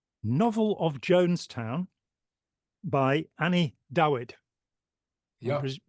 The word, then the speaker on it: Dawid: Paradise Undone, a novel of Jonestown by Annie Dawid. I'm yeah, presuming it's Dawid, not David, because it's spelt with a W, who is, she teaches creative writing.